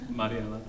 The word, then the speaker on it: Mariela: She knows that I can roll my R's, and she'll never let me not say her name correctly, and I appreciate that, so Mariela.